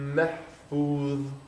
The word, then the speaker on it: محفوظ: في لوح محفوظ. Mahfuz. محفوظ. Now, if you say mahfuz, right? That's a that. So that's where the distinction comes, because this has to be pronounced thick.